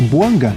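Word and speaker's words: Bouanga: Buanga e Giru na temporada pelo Los Angeles FC. Giru, campeão do mundo, 17 jogos, três gols e duas assistências. E tá certo a minha pronúncia. É Boanga que fala, né?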